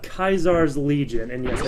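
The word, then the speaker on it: Caesar: It's not Kaisar's Legion, and yes, I said Kaisar, that's how it's pronounced in-game, but the NCR, there we go.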